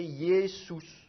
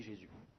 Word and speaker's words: Jésus: Dans la plupart des langues, un U, ça se prononce OU. Donc ça, il faudrait prononcer Yesous. Mais évidemment, la prononciation française, ça devient un J, et le U, il est prononcé U et pas OU. Donc ça fait Jésus, et puis d'ailleurs, on ne prononce même plus le S final, on dit Jésus.